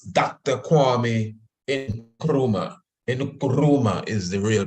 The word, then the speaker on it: Nkrumah: of pan-africanism some people say it's Dr Kwame in chroma is the real pronunciation I am now learning this thing properly